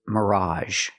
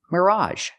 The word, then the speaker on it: mirage: the next word is Mirage Mirage again we have the AG G making the a sound Mirage Mirage is a